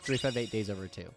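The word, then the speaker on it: 358/2 Days: that and then there's Kingdom Hearts 358 days over two yes that is how you say that title in Kingdom Hearts days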